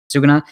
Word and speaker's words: Sukuna: I forgot how do you pronounce his Sukuna? name? Sukuna.